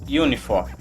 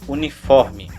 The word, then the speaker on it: Uniform: E seguindo nós temos a letra U, que corresponde ao fonema Uniform. Isso de acordo com a pronúncia do ICA 112. Porém, mais uma vez, na prática, em 99% dos casos você vai escutar aí na fonia a pronúncia uniforme, como se fosse uma palavra brasileira e tivesse o E no final.